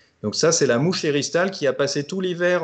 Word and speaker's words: éristale: Alors, éristale, ça s'écrit comment? E-R-I-S-T-A-L-E, comme ça se prononce presque, et elle fait partie